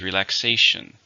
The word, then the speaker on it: relaxation: Relaxation. There are 4 syllables, stress is on the third.